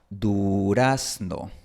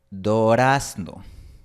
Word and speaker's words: durazno: Por ejemplo, la palabra española durazno. Cuando un hablante nativo de quichua pronuncia esta palabra, probablemente pronuncie dorazno. Dorazno. Porque para él no hay una distinción entre las vocales u, o.